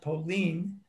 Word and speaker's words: Polin: that the hebrew meaning of the word poland pauline pronounced pauline in hebrew means rest here while